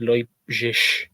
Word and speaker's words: Leipzig: Funnily enough, it's pronounced Leipzig. You taking the piss at me, mate? Leipzig. That's because it's German, isn't it?